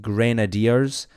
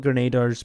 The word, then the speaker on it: Grenadiers: it is actually pronounced grenadiers um so that is kind of a a pain I I call it graders because they Chuck grenades but it is pronounced grenadiers so if you help